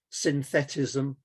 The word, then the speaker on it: synthetism: or often in english it's pronounced as synthetism and it's it's it's